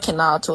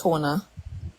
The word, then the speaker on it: Kona: he he said um his name is not Kato it's Kona yeah yeah I was